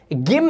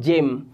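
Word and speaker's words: gym: या फुट ठीक है इसमें आप एक्सरसाइज करते हो उसे आप गेम नहीं उसे पढ़ने हैं जिम तो आपने देखा कैसे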